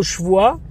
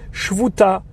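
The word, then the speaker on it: שבועה: Et pour dire le mot shvoa, serment, ils disent shvuta, o shkuka, o shayu aramim, ou bien ce sont des araméens.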